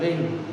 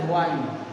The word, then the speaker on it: wind: Student, word wind is used in the poem in pronunciation as wind, and when you are using in prose, then wind.